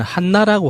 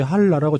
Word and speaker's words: 한라: 조국이라는 그게 북한 측 표현되려면은 한나라고 하잖아요. 그래서 처음에 그 제목을 봤을 때 순간적으로 못 알아봤어요. 한나? 한나가 무슨 말이지라고 생각했는데 생각해보니까 그게 한라산을 말하는 북한식 표현이더라고요. 현송월 단장도 노래 부를 때 한라라고 정확히 발음하더만요.